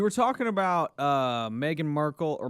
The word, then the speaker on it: Markle: talking about uh Meghan Markle or Markle is it Marco I read an article which rhymes with sparkle yanny okay Prime Sparkle